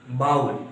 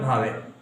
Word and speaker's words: vowel: The real pronunciation of it is vowel, not vowel. हम लोग गलती करते हैं पढ़ाने में. इसका रियल जो उच्चारण होगा वो वाउल होगा.